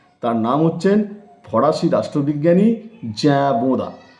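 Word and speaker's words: Jean Bodin: তার নাম হচ্ছেন ফরাসি রাষ্ট্রবিজ্ঞানী জ্যাবোদা। যখন তোমরা জ্যাবোদা বলছো তখন জিন বোদা এই উচ্চারণটা তোমরা কিন্তু বোর্ডে লিখে দিও।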